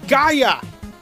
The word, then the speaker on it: Gaia: no wait my bad it's not gala it's fucking gaia i don't know how